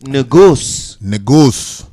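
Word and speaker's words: Negus: And how you really pronounce it is noose.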